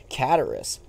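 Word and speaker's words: Cataris: is here in cataracts cataracts that's how you pronounce it it's not guitarist that would be stupid john that'd be a stupid pronunciation it's just kataris i'll i will say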